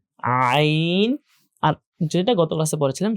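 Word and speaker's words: ع: করতে হয়, সেটা হচ্ছে আইন। একই জায়গা থেকে, যেখান থেকে হা আমরা প্রেসার দিয়ে উচ্চারণ করছি, ঠিক একই জায়গা থেকে আইন, আইন, আইন এটা উচ্চারণ করতে হয়।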